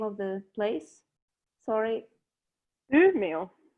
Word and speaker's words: Umeå: Ellen, youth living in, how do you pronounce the name of the place? Sorry. Umeå. Umeå.